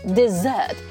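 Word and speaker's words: dessert: 얘기할지 스위트 룸이라고 하죠 desert 두 번째 음절에 바로 강세가 있어요 desert Z 발음납니다 deser des라고 발음하면 절대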